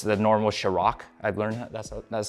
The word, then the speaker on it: Kjerag: It's the NNormal Kjerag. I've learned that's how it's pronounced.